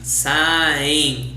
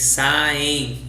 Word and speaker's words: saem: Vocês saem em. É bem o som do N do espanhol, Guilherme. Vocês saem em.